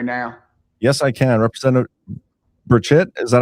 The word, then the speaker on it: Burchett: Representative Burchett, is that how you say it? Burchett.